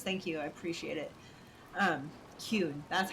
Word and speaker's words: Qun: Kun, that's how it is. I was like, I'll pronounce it every other way, except for the right way.